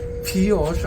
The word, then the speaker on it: Pioche: We've stopped in the small town of Pioche. I think it's how you pronounce it because it was named after a French American, Francois Louis Alfred Pioche, and this traditional Old